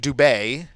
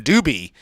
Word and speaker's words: Dube: last name is pronounced Dube right that's the French way to pronounce it and my grandfather who